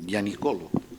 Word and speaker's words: Gianicolo: Les diré que hoy acudo a esta magnífica sede en el Gianicolo, se pronuncia así, bien, después de contemplar torres, cúpulas,